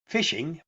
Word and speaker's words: phishing: But in its most basic form, phishing, pronounced phishing, is a scam in which a victim is tricked into sharing sensitive information or download ransomware.